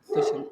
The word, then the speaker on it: Dushyant: Thank you so much, Dushan. That's how it's pronounced, right? The ship, yeah, Dushyant.